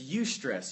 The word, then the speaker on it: eustress: called eustress all right it's spelled e-u-s-t-r-e-s-s e-u meaning like you know like euphoria um that same kind of thing that's you stress you stress builds you